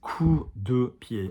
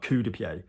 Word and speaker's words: coup de pied: But the pronunciation, dancers, is coup de pied. Alors coup de pied, not coup de pied. Try not to say coup, because anybody French in the class just laughs, because coup is like arse, all right?